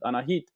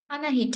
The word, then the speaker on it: Anahit: whole meeting is it Anahit Anahit yes it is an Armenian name it's you pronounce it